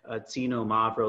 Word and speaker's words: Xinomavro: here to pronounce the xinomavro like because almost like casino like you're saying the word casino Mavro it says which sounds about right now yeah that's pretty close xinomavro xinomavro and then I